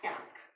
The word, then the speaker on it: Tag: see the day like in german we pronounce day as tank okay uh knock involved